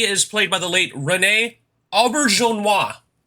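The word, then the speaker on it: René Auberjonois: played by the late renee albert jean-hua i think the name is french but i'm not sure oh yeah but i imagine it was french but i i'm very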